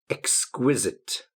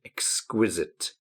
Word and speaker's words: exquisite: Glorious, adorable, stunning, splendid, breathtaking, wonderful, attractive, exquisite. Get careful with the pronunciation. Exquisite. Majestic. Exquisite, majestic.